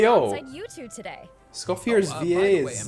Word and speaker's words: Escoffier: Scoffier. That's how you say it.